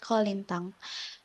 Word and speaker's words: kolintang: Uh, First of all, can you teach me how to say it right? Kolintan? How to Kolintang. Kolintan? Yes, that's right.